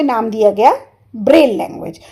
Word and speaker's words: Braille: इसे कैसे प्रोनाउंस करते हैं? इसे बोलते हैं ब्रेल।